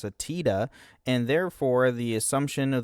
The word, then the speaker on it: Tidus: Uh, the pronunciation of his name first confirmed is an official localization of Kingdom Hearts which features him in a cameo where his name is pronounced Tetus.